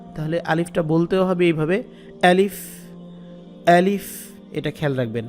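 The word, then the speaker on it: أَلِف: আলিফটা বলতেও হবে এভাবে আলিফ আলিফ এটা খেয়াল রাখবেন শক্ত করে বলতে হবে হলকের শুরু থেকে হলক মানে কণ্ঠনালী কন্ঠনালী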